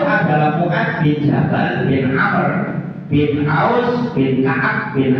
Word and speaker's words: Amr: Wa Mu'ad ibnu Jabalin ibnu Amr ibnu Aus. Kalau ada tulisan Umar, kemudian depannya ada wawu, itu bacanya Amr. Kalau wawunya dibuang, Omar.